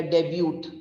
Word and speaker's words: debut: debut i did the debut i made a debut for myself since it is t no here the t is absolutely silent it is like the